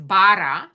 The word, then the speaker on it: Bara: Oh my gosh, I didn't even ask, is it Bara, Bara? I'm saying that right? How do you say it? Well, like this thing, it's Bara, right? Because it's Bara.